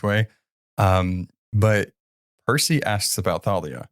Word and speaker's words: Thalia: It's actually really hard for me to like remember how to say her name, Thalia, like that, because I always thought it was just Talia. I don't know, whatever. It's that TH.